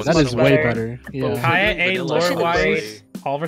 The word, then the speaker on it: Kaeya: It's Kaeya. It's just Kaeya. Okay. That's how they pronounce it.